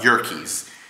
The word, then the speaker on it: Yerkes: same person that built the Chicago Loop, Charles Yerkes. I do not know how to pronounce his last name. this guy. It's Yerkes.